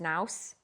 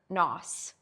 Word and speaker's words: nous: Okay, so maybe it's pronounced nous, N-O-O-S.